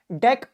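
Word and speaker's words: deque: Dec or dq, it's pronounced dec, but you can call it dq also, whatever you like.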